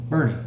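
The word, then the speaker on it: Boerne: So, our first word is, now then, you would pronounce that Bernie.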